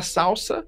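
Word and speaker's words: SLSA: E aí já vamos pro pro próximo pra próxima palavrinha difícil aqui, que se fala salsa, ã, mas se escreve e sl, certo?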